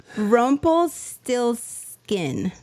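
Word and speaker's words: Rumpelstiltskin: How to pronounce it? Rumple Still Skin.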